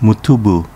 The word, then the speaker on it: Motobu: higashi pronounced fijaci in uchinanguchi and is famous for the yambaru forest motobu town pronounced mutubu in uchnanguchi motobu is known for